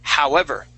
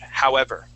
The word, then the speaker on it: however: the last word is however okay so uh that uh that o w will make an ow sound however however try that however